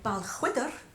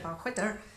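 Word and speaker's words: Balquhidder: So the next number is actually taking us to Stirlingshire, which is where Balchwydder is, spelt with a Q-U-H, surprisingly.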